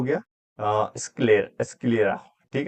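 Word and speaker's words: sclera: और एक हो गया स्क्लेर स्क्लेरा। ठीक है? इसको प्रोनाउंसिएशन आप देख लेना स्क्लेरा करके बोलते हैं।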